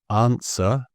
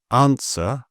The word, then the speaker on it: answer: So, I don't know, it says think of W here as a friendly ghost, always seen but never heard, as these examples show. Right, wrong, sword, answer, whole, and who. So right, wrong, sword, answer, whole, and who.